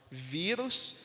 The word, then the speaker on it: vírus: tonicidade, como nas palavras vírus, jiboia e europeia. Percebe que vírus tem 2 sílabas, É a penúltima sílaba que tem mais tonicidade.